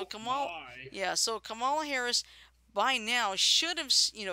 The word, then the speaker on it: Kamala: believe by now I think how do you pronounce that? Kamala? Kamala? Kamala.